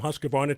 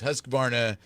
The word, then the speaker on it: Husqvarna: for them Dennis because Husqvarna is one of those words that should be the telling mixin sounds different right right yeah i mean i pronounce it Husqvarna if you're in sweden its Husqvarna so who's come on them exactly it's H us q VAR na and our websites Husqvarna